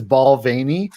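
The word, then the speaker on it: Balvenie: hate that it i i used to pronounce the name of that name of that whiskey wrong for like the first 10 years i love that whiskey and then when i learned it was balvaney i i'm like that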